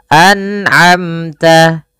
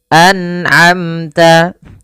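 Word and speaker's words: أنعمت: Pada satu kata dalam surah Al-Fatihah, an'amta. An'amta. Nah, hati-hati jangan sampai memantul ya. Kadang-kala ada yang membacanya dengan memantul. An'amta, misalkan begitu. Nah, ini salah ya, tidak boleh memantul dalam lafal huruf nun.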